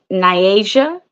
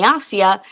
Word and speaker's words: Nyasia: pronounce your name well it's pronounced niasia but when and we went to uh Brazil for the first time they were calling me nasia so either way whichever